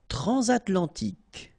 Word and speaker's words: transatlantique: Transatlantique. Okay, so at the end, tic. Remember, QUE, k.